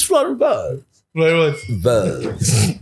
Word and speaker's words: Wirtz: Wirtz. It's W and then the U is Wirtz.